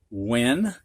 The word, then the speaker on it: when: couple of these words three of them actually have a silent h when whack wham you don't hear the h it is silent and the next thing